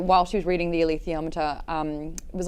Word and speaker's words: alethiometer: Saying that while she was reading the Alethiometer, it was like when you're playing chess and you are Say that again. yep Althiometer. Althiometer. How do they say it in the book? Alethiometer.